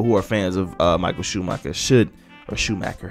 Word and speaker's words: Schumacher: So by all means, I think all F1 fans and all people who are fans of Michael Schumacher should, or Schumacher, how I say his name is Schumacher, all right, should check into this.